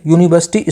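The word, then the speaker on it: university: अगला question 29, ही is blank यूनिवर्सिटी student. तो इसमें आप लोग सोच लीजिए इसका राइट ऑप्शन क्या हो जाएगा। तो यूनिवर्सिटी की जो साउंड है, जो प्रोनाउंसिएशन है, ये है कॉन्सोनेंट की, तो इस वजह से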